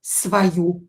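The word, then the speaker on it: свою: On lyubit svoyu rabotu. He loves his job. When o is not stressed, pronounce it as a.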